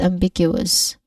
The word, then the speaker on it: ambiguous: All in all, we try to put them together, we get ambiguous. Again, ambiguous. All right. Let the sound slide smoothly, but don't rush the ending because the stress syllable here is big.